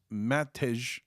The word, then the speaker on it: Matej: Since J makes the Y sound in a lot of Eastern European languages, I might pronounce Matej as Matt Hey, but without the H. So Mate, is that accurate?